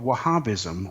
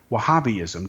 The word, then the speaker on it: Wahhabism: Their official version of Islam is called Wahhabism or Wahhabiism depending on how you pronounce it.